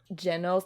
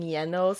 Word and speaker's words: Genos: what it was, and they were pronouncing Genos. They were saying Yenos, and I was like, oh Yenos and Yoda. Yeah, and I was like, have I been Oh my saying it God. wrong this whole time?